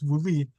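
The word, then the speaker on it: βουλή: Greek it's called a vuli which some people pronounce v b o u l e but it's vuli and it literally means a council so I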